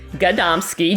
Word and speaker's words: Gadomski: And funny enough, it sounds exactly how it's spelled, Gadomski, Gadomski, but the most common mispronunciation of it is people reverse the vowels and call me Gadomski.